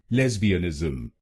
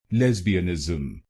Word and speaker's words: lesbianism: then it will become lesbianism lesbianism lesbianism and in this word you have to put stress on the first syllable lesbianism lesbianism now you know